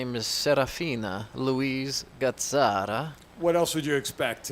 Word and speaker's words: Gazzara: Gazzara.